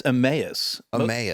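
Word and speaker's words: Emmaus: it already am uh it's emus most people say like eme or something but yeah it's em m a s is that Greek in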